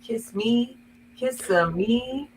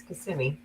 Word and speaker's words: Kissimmee: this place called Kissimmee, which is really Kissimmee when you live here. But we stayed in a hotel that had a sunken bar, and my dad kept trying to ask the bartender, "How do you say it? Is it kiss me, me?" And I'm like, so now that I've lived here for almost 30 years, it's Kissimmee, and that's it.